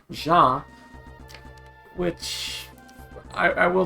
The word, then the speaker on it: Jean: uh yeah so a lot of people will say his name like team like like jeans kind of like the clothing um but yeah you you it's likely meant to be pronounced like in French because about the French words that he uses so it's probably meant to be ja which I I will